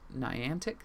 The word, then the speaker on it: Niantic: media and everything but uh the developer nian Niantic yeah that's how you pronounce it uh who is developing Pokémon go